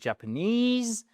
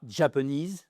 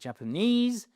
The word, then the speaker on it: Japanese: sur la bonne syllabe, ici c'est Japanese, c'est pas Japanese, non c'est Japanese, vous ne serez pas compris chers amis.